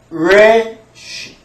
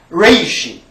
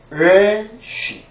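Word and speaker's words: ריש: R 발음으로 시작을 되는 거 또는 레쉬 레이시 또는 레쉬 이렇습니다.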